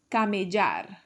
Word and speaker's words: camellar: And in Colombia, they say camellar. That double L sound. J.